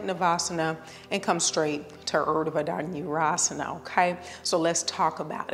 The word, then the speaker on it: Urdhva Dhanurasana: It's pronounced Urdhva Danurasana.